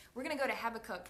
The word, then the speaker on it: Habakkuk: I think that's how you say it, Habakkuk. Me and Pablo literally had a conversation before this thinking, okay, how do we really say this? But that's what Google said, Habakkuk.